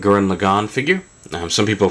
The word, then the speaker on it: Lagann: figure um some people have criticized me for lagon saying it's Lagan um I've never seen any evidence of that um maybe in the subtitled version or not the subtitled the dubbed version they say it like that um but I've watched the Japanese subtitles and it's always G lagon so uh that's what